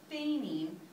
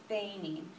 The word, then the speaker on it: feint: So with feigning, it has another silent letter in it, the T.